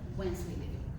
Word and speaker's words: Wensleydale: Wensleydale.